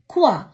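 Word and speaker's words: quoi: கியூ யு ஓ இ குவா, என்ன. பே ஓ இ தே எஸ் புவா, நிறுவை. இப்படியாக ஓ இ என்ற சத்தம் வரும் பொழுது உவா என்று உச்சரிக்கணும்.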